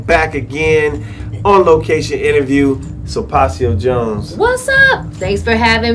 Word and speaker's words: Sulpacio Jones: That's SULPACIOJONES.